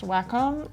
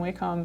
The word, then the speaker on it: Wacom: because I like saying we comb better Wacom feels like I'm playing whack-a-mole totally yeah but apparently